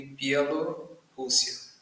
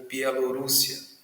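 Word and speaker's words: Bielorrússia: Centro-Oeste da Rússia, Polônia, Eslováquia, Ucrânia e Pialorússia ou Pielorússia, já ouvi as duas pronúncias.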